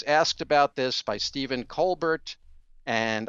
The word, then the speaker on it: Colbert: about this by stephen colbert and i know they say colbert i don't pronounce it that way it's an irish name asked about it she